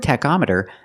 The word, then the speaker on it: tachometer: With the word tachometer, the CH makes a k sound. K, tachometer.